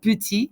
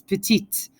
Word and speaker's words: petite: elegrand okay so notice when it's a female adjective you hear the end of the word it's not puti it's petite it's not gang it's